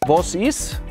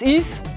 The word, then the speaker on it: Was ist: Another thing: The letter A is often pronounced like an O. As for instance in: Wos is? (Was ist? - What is it?) Wos is?